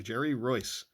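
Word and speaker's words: Jerry Reuss: Jerry Roy Jerry Roy I'll never forget how to pronounce his name check that video he sent me a video telling me how to pronounce his name correctly Jerry Royce Dave Anderson I won't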